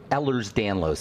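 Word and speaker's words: Ehlers-Danlos: D first of all there's no disease called ERS danlo it's Ellers Danos that's spelled e h l e RS d n l oos for the listeners Ellers Danos is a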